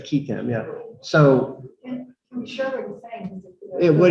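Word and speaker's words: qui tam: So, and whistleblowers go back, some people say quitam or quitam, however you want, you're the Latin expert, how do you say it?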